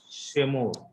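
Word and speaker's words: שְׁמֹר: Whenever the word begins with syllable with a Shiva, it is always vocal. So the pronunciation will be Shemor.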